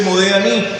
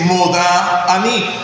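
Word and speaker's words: מודה אני: Y mi esposa no dice Modeh Ani, dice Modá Ani, haciendo hincapié en el Kamash, en la letra Dale. Cuando ella hace la pronunciación, Modá Ani, nosotros Modeh Ani.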